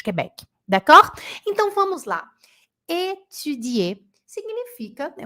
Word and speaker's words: étudier: É o I com boca de U, é o biquinho. Não é etu, não, hein? Não pode falar etudier.